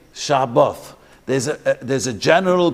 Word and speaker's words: Shabbat: There's no TH in German and Yiddish. So there's a Shabbos. It's not this, it's Shabbat, or the Shabbat. So the Sfardim only say Shabbat, but really there's two.